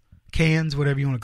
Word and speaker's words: Cannes: in the film festival Khan's Cannes whatever you want to call it but it's pronounced cons and it sits in